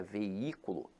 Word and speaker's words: veículo: jogar esse jogo infelizmente agora a palavra veículo apesar de ter e ato veja que a sílaba tônica se encontra na Ant penúltima sílaba então aqui ela é acentuada pela regra da proparoxítona Então meus amores não